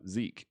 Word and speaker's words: Zeke: Rocky, it's pronounced like Seek, but Zeke.